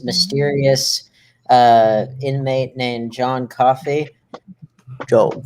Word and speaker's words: Coffey: in comes this mysterious uh inmate named john coffey don't call for them set like the drake